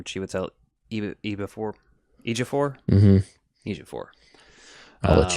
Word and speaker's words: Chiwetel Ejiofor: There's, obviously, Chiwetel, I think that's how you say his name, Chiwetel Ejiofor.